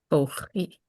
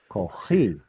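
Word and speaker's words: כֹּחִי: So how do you say my koach? Kochi. Kochi. Exactly.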